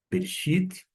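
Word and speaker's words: בְּרֵאשִׁית: Eu sei que a sílaba tônica não está na junção bereshit, não está no B, no re, está no xi.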